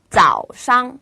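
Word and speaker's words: 早上: 길게 하지 마시고 자오상 자오상 이라고 발음하시면 됩니다 자 그래서 삼성은 길게 뺀다는 느낌 빼고요 밑에 꾹 누른다 가장 낮은 소리다 것만 기억을 하시면 더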